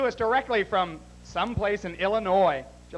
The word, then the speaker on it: Illinois: directly from someplace in Illinois did you like that I didn't pronounce that final s it's a French word